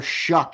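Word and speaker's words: Shough: Oh Tyler Shuck it's pronounced.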